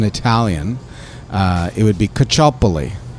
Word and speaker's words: Caccioppoli: name when you know anybody who's italian would pronounce it as cachopoly well welcome to bond